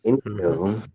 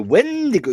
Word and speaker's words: Wendigo: Indigo. The Wendigo. You got to say it like this. Wendigo.